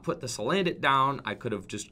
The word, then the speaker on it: Salandit: Salandit. I used to say it Sandalit, but so I'm getting used to saying it correctly. I definitely was mispronouncing that for a long time.